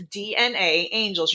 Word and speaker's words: DNAngels: It is DNA angels. You pronounce both A's, but you only spell it with one.